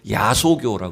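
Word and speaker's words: 야소교: 양 귀신을 쫓아간다이 원래 예수교가 여러분 그 환자로 환자와 발음으로 야소 교라 그랬죠 예전에 그 야소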